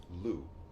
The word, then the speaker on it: Lugh: Uh dedicated to the Celtic god god of Lugh. Um The G and the H are silent for some reason.